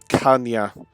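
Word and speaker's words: caña: I'm just having a quick look so it's pronounced kanya which I'm assuming that's the salad he says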